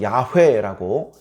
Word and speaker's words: 야훼: 그러나 우리는 그 단어에 본래 가지고 있는 소리들, 그리고 마소라 학파들이 거기에 붙여놓은 모음들, 그런 것들을 조합해서 여호와 또는 야훼라고 그렇게 발음을 내서 부르기도 합니다.